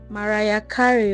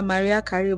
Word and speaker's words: Mariah Carey: this Mariah Carey song, Mariah Carey, or is it Maria Carey? I used to call her Maria Carey, but I feel like the pronunciation of the name is Mariah Carey.